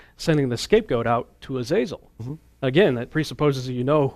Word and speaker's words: Azazel: one of them is called Azazel sometimes pronounced a soul or different pronunciations but but he seems